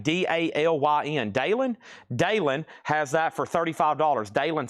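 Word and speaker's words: Dalyn: Dalen has that for $35.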